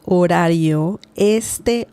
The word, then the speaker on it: horario: Este horario. This is a tricky word to pronounce because the R sound is quite, it's not the R sound. It's more like ra, re, ri, ro, ru. Okay?